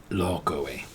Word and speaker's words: Lokoe: So yesterday is Lokoe. Okay? Lokoe is spelled like this. Lokoe. Okay, so the way we're gonna remember is look away at what happened yesterday.